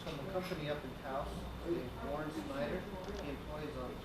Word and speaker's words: Taos: T-A-O-S, they pronounce it Taos, New Mexico.